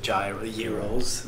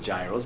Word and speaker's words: gyros: The gyros, not Gyros, gyros. right? They pronounce it gyros, but it's the gyros.